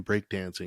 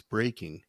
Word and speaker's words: breaking: If you're saying break dancing, it's breaking.